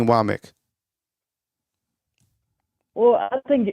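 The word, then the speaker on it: Wommack: the newscasters so um I know it's like it looks like wac to me um but it's wck so Kan wck is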